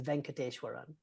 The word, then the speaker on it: Venkateshwaran: Yeah, my last name is Venkateshwaran. No silent letters, exactly how it's spelled.